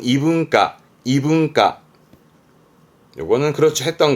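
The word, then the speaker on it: 異文化: 이문화라든가, 발음은 이분과, 이분과.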